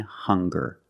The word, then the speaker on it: hunger: Also, we have these 2 words, hungry and hunger. They also make the same sound with the nasal sound and the hard g.